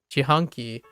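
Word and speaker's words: 自販機: So if you actually pronounce jihanki, it's actually really close to jihanki.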